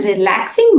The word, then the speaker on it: relaxing: पर रिलैक्सिंग बोलते वक्त हमें दूसरे सिलेबल पर मतलब लैक्स, इसके ऊपर जोर या एम्फोसिस देना है।